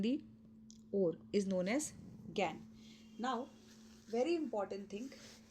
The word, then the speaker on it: gangue: Okay, so the third term that we need to know is, that is GAN. We pronounce it GAN. The spelling is GANGUE.